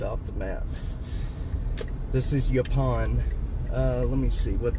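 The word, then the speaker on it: Yaupon: This is Yapon. Uh let me see what the actual street name is. Uh, Yapon Trail. Y A U P O N. Yapon, I think, is how it's said.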